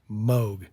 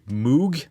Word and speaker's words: Moog: wrong moog yeah yeah i always used to say moog for the longest time until i hear i heard bob moog say his name and i'm going to assume that he's pronouncing his name right so it's actually yeah